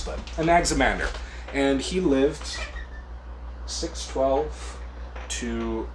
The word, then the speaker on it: Anaximander: Some of these Greek names can be hard to pronounce, but Anaximander.